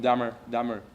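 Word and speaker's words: Delmar: Avec l'accent du sud, ça se prononce comme Dahmer, qui fait plus con, Dahmer.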